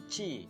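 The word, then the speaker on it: ち: Baik, selanjutnya adalah huruf Ti, tapi dalam bahasa Jepang di huruf hiragana nggak ada huruf Ti minasang, adanya Chi. Ini sama dengan Ti minasang, tapi pelafalan dalam bahasa Jepangnya adalah Chi.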